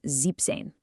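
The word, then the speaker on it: siebzehn: For 16 and 17, the original numbers get shortened just a little bit to help them roll off the tongue. So z becomes zen and zeben becomes zipane.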